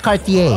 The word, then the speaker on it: Cartier: Bilang nasa Paris ako, di po pinopronounce ang letter R. Kaya nga Cartier.